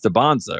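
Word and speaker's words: Dybantsa: before, I was like, "What is it, AJ Debansza or is it AJ Debansa?" and he was like, "It's Debonsza, right?"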